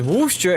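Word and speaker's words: Worcester: Locals pronounce Warcaster as Wooster and Glouester as Glouester.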